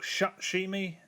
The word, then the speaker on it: Shutshimi: It's spelt Shutshimi, but it's pronounced Shutshimi. It's an Xbox Live indie game.